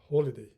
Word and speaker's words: holiday: New Year's Day is a holiday, but here H is not silent. Holiday.